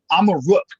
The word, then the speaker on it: Amaruk: Amaruk is how you pronounce Morocco in the Berber language, which was one of the languages from this land that the Moritanians spoke.